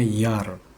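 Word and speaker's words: Jahr: Misal ini ada kata contoh kata tahun dalam bahasa Jerman tulisannya kan J A H R tapi dibacanya Yar ya dibacanya Yar.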